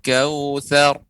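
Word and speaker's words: الكوثر: Jadi catatan untuk adik wafa, pengucapan ra dibaca dengan tebal apabila disukunkan sebelumnya huruf berharokat fathah. Kautsar.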